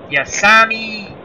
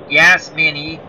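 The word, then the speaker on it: Yasmani: The new catcher is Yasami Grandal. Well, I butchered that name. Yeah, Yasmini Grandal.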